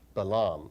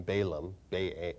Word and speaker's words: Balaam: probably a couple years or so ago, about Balaam. Most people pronounce his name Balaam, B-A-L-A-A-M.